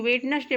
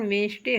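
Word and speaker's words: Wednesday: कुछ लोग वेडनेसडे पढ़ते कि इसका शुद्ध उच्चारण वेंसडे होता है, हम इसको नहीं छोड़ेंगे।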